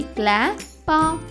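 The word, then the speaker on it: clap: మిత్రులారా, సిఎల్ యొక్క శబ్దం కాలా కాకుండా క్లా అవుతుంది. కాబట్టి సిఎల్ఏ యొక్క శబ్దం అవుతుంది క్లా, సిఎల్ఏపి యొక్క ఉచ్చారణ అవుతుంది క్లా పా, క్లాప్.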